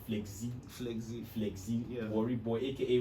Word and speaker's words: Flezzy: exclusive dr flexi okay i actually pronounced flexi at first now flex z flexy flexy worry boy